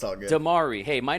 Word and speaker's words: Dimare: is a special occasion I'm with filmmaker Canyon De Mer did I say your name correctly sir uh Demar e but it's all good damari hey my name has a silent k so